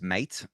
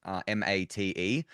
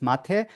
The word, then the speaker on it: mate: Next thing, so I read this word as mate, M-A-T-E, but Yeah. in Argentina, this is not how to read it. It's mate, I think, if I'm saying it right.